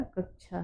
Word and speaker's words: कक्षा: तो यहाँ पे हम जब एक होता है हमारा छ, जो छाता वाला छ होता है, उस छ का हम उच्चारण नहीं यहाँ करेंगे। यहाँ पे हम जब उच्चारण करते हैं उसमें क की ध्वनि भी आनी चाहिए। यहाँ पे हम करते हैं श, क्या करते हैं, छ बोल देते हैं।